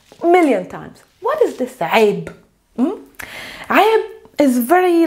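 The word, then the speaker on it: عيب: This word is pronounced, there's a ayn, there's a ya, there's a b. This is the word aib.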